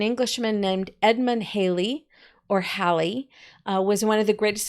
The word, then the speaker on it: Halley: so go ahead and write down Englishman Edmund Halley I always heard it Halley growing up and then when they became an adult and listened to some of the scientists discussing it and they pronounced it hey Hallie and I'm like oh so I've been saying